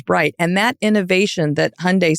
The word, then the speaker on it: Hyundai: um but we always we would always say say Hyundai like Sunday and but it was